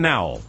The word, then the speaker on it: Nowell: Yes, that's Stephen Nowell. Good guy. Hope he has a fabulous birthday. And there's the correct pronunciation for you.